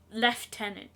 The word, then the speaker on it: lieutenant: in the middle yeah you're saying it wrong it is left tenant left tenant fine left liant you're English